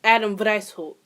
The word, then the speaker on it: Adam Weishaupt: Adam White. Oh, Lord. Is that German? Wow, it is German. Wow, I should probably fucking know that. So, the founder was actually Adam Weishaupt.